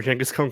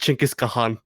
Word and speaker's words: Genghis Khan: always forget them remember whenever genghis khan comes up that he that it's actually supposed to be pronounced chinkis kahan i i try my